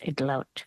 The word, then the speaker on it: Idlout: And just very quickly, the way to pronounce my last name is Idlout with an L. Idlout.